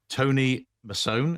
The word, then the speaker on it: Tony Masone: And I'm delighted, thrilled to say I'm joined by one of my old clients, actually, Tony Mason.